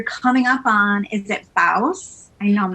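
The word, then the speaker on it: Bawse: realized that you're coming up on, is it Baus? I know I'm not going to pronounce it. No, you nailed it. Baus.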